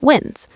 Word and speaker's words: Wins: Joining us for the first time on the Lottery Players podcast is lottery strategist Tim Wins, pronounced Wins.